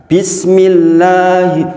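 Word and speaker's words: بسم الله الرحمن الرحيم: Dibaca berapa panjang mad tobi'i? 2 harokat atau 1 ayun dalam metode umi. Maka dibaca bukan begini. Bismillahirrahmanirrahim. Saya sering dengar seperti itu. Gini Bang, kadang-kadang orang itu sahih banget tuh, bagus banget tuh, lanya panjang. Padahal hanya 1 ayun, 1 ayun saja.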